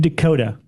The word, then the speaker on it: DeCoteau: Please welcome filmmaker David DeCoteau. I said it correct, right? Hello. Yes, absolutely. Okay, because people DeCoteau. say your last name multiple ways. Yeah, I pronounce it like the state, Dakota.